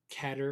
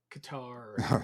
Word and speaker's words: Qatar: December of 2021 and cater or Qatar yeah however you want to pronounce it right katar whatever whatever it is so I think it's I'd say kater if I have to but uh I think it's kater too but Umar so Qatar